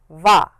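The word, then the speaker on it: は: means I this word this sound written here in bold is va.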